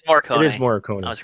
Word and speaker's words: Morricone: Oh, how you pronounce it? Yeah. Fred? No, but it's Morricone. It's Morricone. It is Morricone.